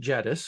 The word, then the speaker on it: Jedis: for uh for reddis and yes this is pronounced jettus in case you were wondering you don't get